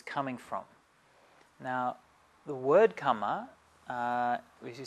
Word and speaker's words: kamma: that teaching was coming from now the word kama as you say we pronounce it kama in pali karma in sanskrit is it literally